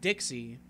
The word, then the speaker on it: DXY: Even when I first heard the song eons ago, DXY, actually, I believe it's pronounced Dixie, but I like calling it DXY.